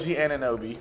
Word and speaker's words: Anunoby: pronunciation person here. OG Anunoby.